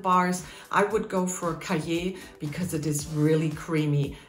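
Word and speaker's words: Cailler: buy some chocolate bars i would go for caje because it is really creamy it's spelled c-a-i-l-l-e-r but unfortunately you have to come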